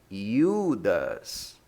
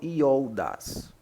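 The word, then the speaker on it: Ἰούδας: Lembrando que quem assistiu a aula de ditongo, o ômicron, juntamente com Y, se pronuncia U. Então eu falo Judas. Eu não falo Iodas, mas Judas.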